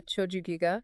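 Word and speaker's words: Chōjū-giga: with these scrolls called Choju Giga. I think I'm pronouncing that right. Yeah, Choju Giga.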